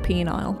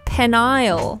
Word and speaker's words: Peniel: Gotta get my stress right there.